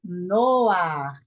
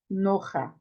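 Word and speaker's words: נֹחַ: Então, aqui é Noar, Noar, Noar, e não Noha. Não é Noha, é Noar.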